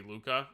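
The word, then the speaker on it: Luka: Ruka Luca I guess the way you pronounce it in Japanese is actually supposed to be Luca and not Ruka but it's fine uh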